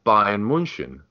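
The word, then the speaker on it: Bayern München: Munich by Munich but we should call them Bavarian Munich or Bayern Munchen which would be obviously the German way of pronouncing it so and that's just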